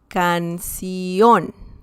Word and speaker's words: canción: The next one is canción. Canción. Well, technically, that is also like the last syllable, ción. But essentially you're saying canción, okay?